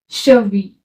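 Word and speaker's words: cheville: है girl okay then second है शवी यहां पर है आई डबल एल और शुरू में सी एच ईवी शवी शवी आई ड ए को ई करके तो क्या हुआ शवी शवी इसका मीनिंग होता है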